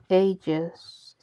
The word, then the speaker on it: AGEs: So, food group number 5 is called ages, spelled like age, and this is advanced glycation end product from overcooked foods.